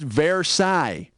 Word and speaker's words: Versailles: ended like world war one or something it's pronounced versailles and i think parathi is what you get